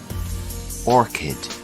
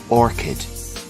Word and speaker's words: orchid: flower is quite beautiful Orchid repeat after me Orchid the CH here is pronounced like a k orchid our next flower